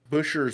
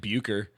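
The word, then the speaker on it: Bucher: staying inside the car busher busher butcher just gonna go butcher there's no T so it throws me off yeah b u c h e r i how he know it's not like buer yeah it could be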